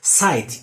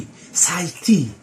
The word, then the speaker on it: sight: Okay, so whenever the E comes at the end, since it is not pronounced, but rather it gives the first vowel to have a long vowel sound. For example, sight.